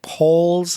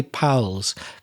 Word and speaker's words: pals: to say hi powell's but it sounded to me like paul's the vowel sound wasn't quite right but i think you wanted to say hi pals p-a-l-s a pal is